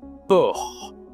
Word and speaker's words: porc: Bon et bien on dit le port. Le por, il y a un c à la fin mais tu ne prononces pas le c.